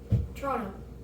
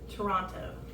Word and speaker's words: Toronto: I've been out yeah Toronto Toronto so we all skip the tea though yeah yeah yeah